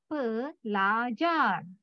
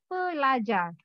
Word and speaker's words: pelajar: And then L-A, sound of La. Read of la. J-A-R, sound of jar. So read of jar. at the last, at the end of the last, you have to pronounce the full word.